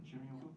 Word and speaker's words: Shinrin-yoku: Is it Shinrin-yoku? Am I saying it correctly? Shinrin-yoku?